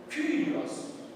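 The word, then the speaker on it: Κύριος: Kyrios. Tá? Kyrios. Perceba que ela está entre duas consoantes, a consoante K e a consoante Rho. Tá? Como eu pronuncio? Kyrios, que é Senhor.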